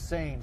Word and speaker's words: seine: eccentric right so this is derived from per sane fishing that's why we and we we know it's like the river sen we pronounce its same same boat fishing uh well you actually had